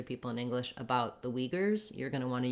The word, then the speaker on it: Uyghur: It's actually pretty good if you look at letter U and U, letter Y and Y, and then the GH to try to represent this voiced velar fricative, and then another U and an R.